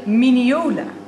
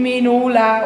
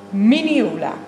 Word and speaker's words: minneola: Dit is een miniola. En geen menola of meonalia. Ik weet niet wat ik allemaal al heb gehoord, maar een miniola.